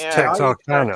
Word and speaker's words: Texarkana: Yeah, it's Texarkana. Texarkana. It's like it's phonetically correct.